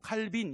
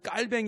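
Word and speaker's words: Calvin: 딸 등 입니다 뭐 칼빈 이라고 부르기도 하는데 진짜 이제 발음은 깔 병이죠 그 깔 뱅 일하는 사람도 종교개혁자 구요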